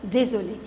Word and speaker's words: désolé: I am female, so I'll say je suis vraiment désolé. If a male will say, he will say je suis vraiment désolé. Pronunciation is same. The difference is in writing.